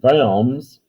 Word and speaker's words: Worms: The word diet means council, and Worms, which is how it's pronounced, is a town in Germany.